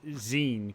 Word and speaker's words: zine: English I don't know Zen think of it as being for magazine okay thank you they're